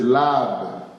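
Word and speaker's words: לֵב: La prononciation de ça, c'est lab, qui signifie l'homme intérieur.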